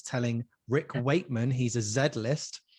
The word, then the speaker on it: Rick Wakeman: I love Wick Rakeman. Wick Rakeman. I've gone for there. Z-list, and you're mispronouncing his name. He's gonna hate me. No, I love Rick Wakeman.